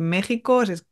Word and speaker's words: México: nativos muchas veces es sin México porque qué se escribe con la x y se pronuncia con la J que sepáis que también